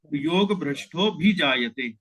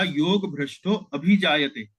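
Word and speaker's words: योगभ्रष्टोऽभिजायते: ध्यान दिया सुबोध जी कहा योग भ्रष्टो अभिजाता इस प्रकार से बोला तो योग भ्रष्टो अभीते यदि आप बोलेंगे तो एक अक्षर आपने यहां पर जोड़ दिया तो मात्राएं जो है मतलब जो आठ अक्षर होने चाहिए थे उसकी जगह नौ अक्षर आप उनका उच्चारण कर रहे है तो वो छंद में ल में वो ठीक नहीं बैठेगा फिट नहीं बैठेगा तो योग भ्रष्टो भी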